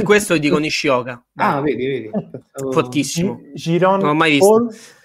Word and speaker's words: Giron: Giron. Non ho mai visto. Chiron, però la pronuncia corretta sarebbe. Chiron contro Paul.